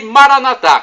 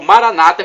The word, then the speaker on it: Maranatá: E Maranatá, como dizemos nós católicos, ou Maranata, como dizem os evangélicos ou protestantes, não importa a pronúncia, vem do aramaico, dialeto